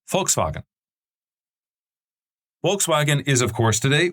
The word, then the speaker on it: Volkswagen: And I want to start today's episode by talking about Volkswagen or in the German pronunciation Volkswagen.